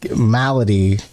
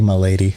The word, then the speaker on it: Milady: but i'm sorry yeah malady which is funny because it's spelled milady oh yeah they do it's like a dual meaning and one of the other characters who's in integrals of the story mispronounces her name i don't know how they let that slide and let her say my lady yeah so that was